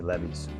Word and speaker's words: Levis: Okay, and if you want to pronounce Levis a little bit different, let me know. But that's how I pronounce his name. Some people may say Levis, whatever.